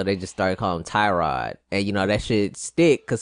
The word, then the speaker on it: Tyrod: not even it's Tyrod. Tyrod? That's how you say it? That was the thing. It's Tyrod. His mom says it's Tyrod. That's not. That's so you just T-Rod.